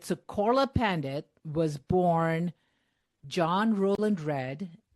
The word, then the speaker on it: Pandit: I know that the word P A N D I T is actually pronounced Pandit, right?